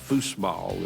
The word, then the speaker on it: foosball: The word foosball came from the German Fußball. When the servicemen came back, foosball, as they pronounced it as the Germans would.